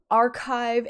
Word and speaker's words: arXiv: It's spelled archive, A-R-X-I-V, because it's a Greek chi, but it's, so it looks like A-R-X-I-V.